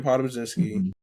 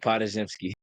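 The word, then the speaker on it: Podziemski: They got Brandon Podomzinski. Mm-hmm. He look good. I said his name wrong. AirPods. Spajemski. I thought they said Podzimski. Brandon Podzimski.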